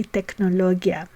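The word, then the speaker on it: טכנולוגיה: we say Biologia and to say technology we say technologia regarding the suffixism which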